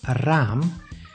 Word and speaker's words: raam: The long sound is pronounced with two A's after each other, like in raam, which means window.